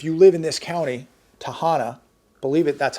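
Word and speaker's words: Tehama: And I bring this up because this tells you and I that if you live in this county, Tahana, believe it, that's how it's pronounced, Tahana County, you're on your own beginning November 20th.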